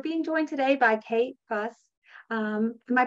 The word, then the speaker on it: Fuss: And we're being joined today by Kate Fuss. Am I pronouncing it or is it Fuse? That's okay. You pronounced it phonetically, so you're not wrong.